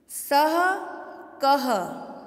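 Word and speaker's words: सः: यदि आप इसको इस तरह से पढ़ते हैं, विसर का उच्चारण नहीं करते हैं, स क, तो ये अशुद्ध उच्चारण माना जाएगा।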